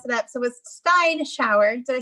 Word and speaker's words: Steinschauer: So it was Steinschauer.